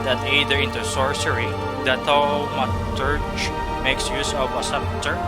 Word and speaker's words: Thaumaturge: Next is the Thaumaturge. How can you pronounce this? Thaumaturge.